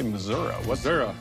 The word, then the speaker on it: Missouri: And do you say Missouri or do you say Missouri? What's the right pronunciation? This is Missouri.